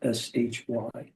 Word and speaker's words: Shibe: It's spelled Shibe, but it's pronounced Shy. Shy.